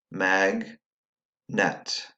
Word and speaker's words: magnet: So if you were to tap these syllables out, if you need to, it would be ag, mag, et, net, mag, net. Let's combine them. And now you have magnet. Schwa syllable happens in the second syllable.